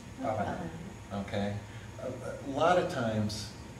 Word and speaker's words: bhavana: Say bhavana. Bhavana.